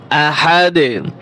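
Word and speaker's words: أحد: আহাদ দুই পেশ দুন আহাদুন ওয়াকফ করলে এখানে আহাদ এইযে দালের উপরে দুই পেশ রয়েছে তানিন এটা উচ্চারণ হবে না আহাদ কলকলা হবে কুলহু আল্লাহু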